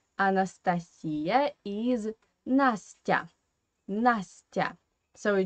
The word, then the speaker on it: Анастасия: So, in English, you pronounce this name as Anastasia. And I think that I do like the English version. For my ears, it sounds more pleasant. Anastasia. Yeah, in Russian we say Anastasia.